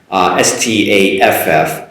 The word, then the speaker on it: staff: That's an ah sound, ah, staff, same as and at, the same ah sound.